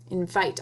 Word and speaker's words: invite: Right, because there's a silent E on the end that turns this vowel, not this one, this vowel, say its name. Invite.